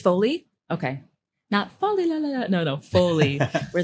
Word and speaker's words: Foley: it's honestly um really Folly I always say it wrong Foley or Folly I think it's falling Folly like in movies it's Foley okay no no fully